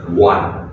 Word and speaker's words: one: Oh my gosh, because some people might think in their head it should be wong. Nothing like that. It should be one. Okay, so no wong.